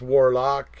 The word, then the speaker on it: Warlawk: So if you guys go back through this chat, you can find Warlock, and it's spelled Warlawk. So it's almost like Warhawk, but it's Warlock, and so.